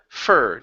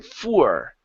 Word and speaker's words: fur: you go no her fur not so what you're doing you're saying F and you're pronouncing an ooh right before it you're saying for instead of for it's fur yeah fur there you